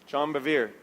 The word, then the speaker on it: John Bevere: Me gusta mucho escuchar al pastor, predicador John Bevere, Bueno, en español se escribe Juan Bevere, ¿no? John Bevere.